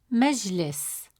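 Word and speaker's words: مجلس: The sukun is placed on the letter jim which means the sound stays still with no vowel. You'll feel a quick pause before moving to the next syllable. Listen and repeat after me. Meless meless. Did you notice that still moment on Jim? That's a sukun holding the sound briefly.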